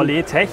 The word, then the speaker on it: LeTech: Die Firma Letech, ist das richtig ausgesprochen? Genau, Letech, ja.